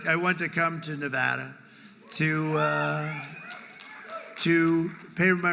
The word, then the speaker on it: Nevada: heard of it and don't ever mispronounce the name you're not allowed to do that you you mispronounce the name you got a problem you ever see somebody when they say it's Nevada Nevada no they're they're in deep they're in deep trouble I I want to